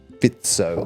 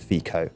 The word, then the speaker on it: Fico: Why did Orban and Fico underperform? Great pronunciation. Thank you very much. Yes, the issue here was that Ben... it's not his fault, but Ben pronounced it Fico, and that understandably irks people, especially because it's a recurring error.